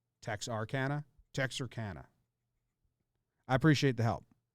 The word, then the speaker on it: Texarkana: been looking at this the authentic way to pronounce it as text or Kanna okay what was I saying Tech sarcana Texarkana I appreciate the help